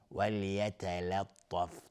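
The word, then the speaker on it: وَلْيَتَلَطَّفْ: ولیتلطف اینجا تمام حروف به جز تا از حروف استفال یا ترقیق هستن. میگیم ولیتلطف، تا فقط غلیظ تلفظ میشه. بعضی میگن وال، همه رو غلیظ تلفظ میکنن، اشتباهه.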